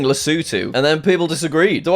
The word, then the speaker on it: Lesotho: Apparently it's not Lesotho. Country pronunciation is a bit of a weird one, right?